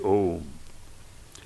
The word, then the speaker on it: Om: The first letter A is the root sound, the key, pronounced without touching any part of the tongue or palate. M, represents the last sound in the series, being produced by the closed lips.